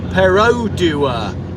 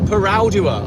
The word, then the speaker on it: Perodua: in Malaysia it's worse it's perodua not what he has been saying I've always called it parua I don't know okay I'm sorry I will make an extra special effort to say perodua from now on it's